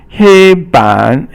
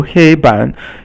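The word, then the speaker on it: 黑板: And then 黑板黑 is first tone and then 板 is third tone. And so 黑板 is a blackboard. 板 is a board. So 黑板黑色黑 is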